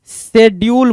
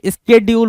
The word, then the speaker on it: schedule: शेड्यूल नहीं होता भाई, स्केड्यूल होता है। क्या पढ़ते बोलते प्रोनाउंसिएशन कई बार आप ऐसा बोल देते हो जो कि नहीं होता है, ठीक है। स्केड्यूल होता है, शेड्यूल नहीं होता है, ठीक है।